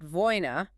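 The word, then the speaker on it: война: Next is Voin, pronounced Vojna. This is also a noun, but it means war. This is the abstract event, the state of conflict itself. And the stress is different there. Yes. Notice the stress shift. The emphasis moves to the final syllable.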